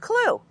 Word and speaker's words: CLU: A simple way to remember the 4 steps is C, L, W, E, pronounced CLU.